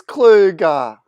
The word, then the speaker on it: Kluge: We've got, I didn't even ask, I didn't even ask you how to pronounce Kluge. How am I going there? It is Kluge.